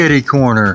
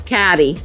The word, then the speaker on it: catty corner: It's kitty corner. No, it's catty.